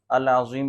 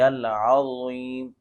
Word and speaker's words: العظیم: ہیں سبحان ربی العظیم، العظیم بھی پڑھ رہے ہوتے ہیں، العظیم بھی پڑھ رہے ہوتے ہیں، یہ تلفظ درست نہیں ہے۔ درست تلفظ یہ ہے سبحان ربی العظیم، سبحان ربی العظیم۔ آگے